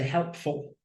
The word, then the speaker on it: helpful: sound like another word it sounds like fool doesn't it fool but as a suffix it's an unstressed syllable and we're gonna say helpful meaningful thoughtful helpful meaningful thoughtful again this